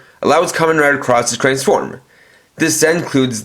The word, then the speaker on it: Cross-Z: As you guys will see in the title, it's spelled out as Cross Z, but I'm pronouncing it as Cross, and there's a good reason for it.